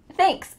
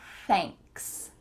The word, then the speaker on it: thanks: thanks, thanks. Make sure that when you say the TH, your tongue is between your teeth and you're also feeling a little stream of air coming out.